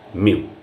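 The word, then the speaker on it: μ: এর উচ্চারণ হয় মিউ।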